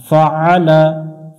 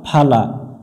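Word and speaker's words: فَعَلَ: আইন অক্ষর হলকের মধ্য থেকে একটু চেপে উচ্চারণ করতে হবে। লাম জবর লা, ফা আলা ফা আলা, কাইফা ফা আলা কাইফা ফা আলা। এখানে অনেকজনে ভুল করে কাইফা ফালা, আইন অক্ষরটা এখানে উচ্চারণ হয় না বা উচ্চারণ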